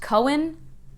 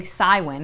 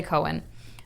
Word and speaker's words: Cywen: Oh man, when everyone says that on the audiobook, her name is pronounced Cohen, I think. I was saying Cywin in my head, or Kywin, I don't know. Corbin's sister, I'll say Cohen.